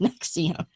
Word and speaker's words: NXIVM: of the show says, what the fuck is Nex-e-um? And first of all, I said to Beth, how do they, because this is spelled Nxivm, but in capitals, so it kind of looks like Roman numerals.